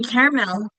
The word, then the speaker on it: caramel: In caramel, there technically is three syllables, but we usually say caramel. We skip that middle syllable. At least with my Long Island accent, we do.